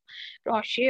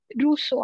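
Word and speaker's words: Rousseau: तो रोशे ने क्या बोला, रोशे और रूसो आप कैसे भी उसको प्रोनाउंस कर सकते हो.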